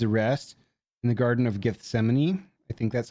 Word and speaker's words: Gethsemane: Uh, this artwork is an angel comforting Jesus before his arrest in the garden of Gethsemane. I think that's how you pronounce that.